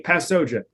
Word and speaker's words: Passoja: pasoa p a SS oja it's like football pass to OJ who's out of jail